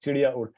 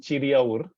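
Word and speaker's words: चिड़िया उड़: It has 2 sounds, R, in both, Chidiya and Ud, right? So when I pronounced that, the 11-year-old was not able to pronounce. He was saying Chiriyaur with R, and the other 2,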